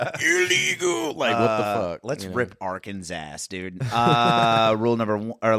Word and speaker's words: Arkansas: Let's rip Arkansas' ass, dude. Rule number or law number one, it is illegal to mispronounce Arkansas. State code mandates three syllables, silent final S, Italian A sound.